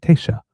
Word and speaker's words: Taoiseach: I believe it's T shock. I have to It's written It is spelled t a o i s e a c h, which if I'm reading it, I would think it's T shock, but because, of course, it's like Gaelic, it's T shock.